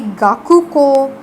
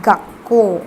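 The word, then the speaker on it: 学校: You will not say gaku ko, you will say gakko. Okay, you will take out the ku of the first kanji, the last let us say kana, or the last syllable of the first kanji, and you will simply replace it with a small tsu and append the second.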